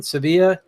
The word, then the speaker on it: Sevilla: presentations at Apache con in Seville Spain Sevilla are we would pronounce it and he did his